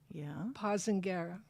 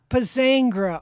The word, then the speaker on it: Pozzangher: And today we have Betsy Pozzangher. No. Tell me. Pozzangher.